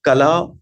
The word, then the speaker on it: Kala: So it is not Kala, it is not Kal, it is not Kala, it is all of it. It is the phonetic sound of Ka and La, like two syllables, Ka, La.